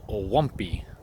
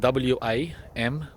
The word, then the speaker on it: wampee: It's a subtropical fruit tree called Wampee. It's spelled W-A-M-P-E-E.